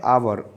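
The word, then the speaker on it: hour: तो देखिए जो आवर होता है, आवर ऐसे प्रोनाउंसिएशन होता है तो इससे पहले हम लगाते हैं वोवल, जो कि वोवल साउंड है तो लगाते हैं हम एन।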